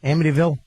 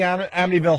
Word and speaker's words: Amityville: Amityville, New York.